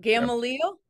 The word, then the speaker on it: Gamaliel: Gamaliel Real.